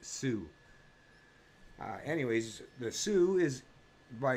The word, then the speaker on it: Tsu: I guess you just kind of pronounce it Sue.